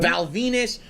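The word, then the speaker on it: Val Venis: Val Venus, who obviously rhymes with penis, and that was his gimmick.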